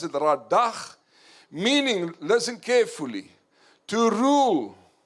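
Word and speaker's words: רָדָה: You pronounce it radach, meaning, listen carefully, to rule, to subdue, to tread down.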